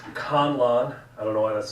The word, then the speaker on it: Conlon: It's Conlon. I don't know why that's so hard. Con, C-O-N, like to defraud.